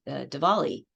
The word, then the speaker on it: Diwali: It has their headquarters, and the person was talking about Diwali. And I just noted, he's saying it with a V instead of a W. It's spelled with a W, but he's including the VW merger.